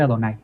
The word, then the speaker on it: Jehová: Literalmente pues dice Yevá, pero ese Yevá no se pronuncia Yevá, sino que son vocales nada más que le pusieron ahí para que no se les olvide que deben decir Adonai, los judíos, ¿eh?